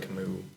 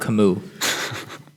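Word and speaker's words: Camus: not Hopkins did he go to Hopkins Albert kamu Albert kamu it's spelled c m us it's um no he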